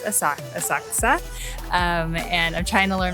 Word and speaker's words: Asakusa: of asaksa in English you would maybe say asakusa but in Japanese it's asak asakusa and I'm trying to learn my better Japanese pronunciation so I'll try and share hopefully the